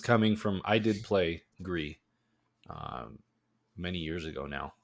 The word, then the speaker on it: Gris: A lot of people do say Gris. And I don't know how they say it, but Gree is gray in French, and I'm pretty sure that's what they were going for.